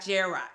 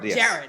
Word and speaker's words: Jarrod: little bit more about Gerard Gerard I want to say it right because people always get my name wrong Jared yes he's known for three